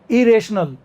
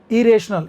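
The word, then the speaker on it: irrational: रेशनल तार्किक, इरेशनल, इरेशनल। इसमें भी डबल आर आता है लेकिन एक आर साइलेंट हो जाता है पहले वाला, बाद वाला यार बोलेंगे अगर सुन रहे हो ध्यान से।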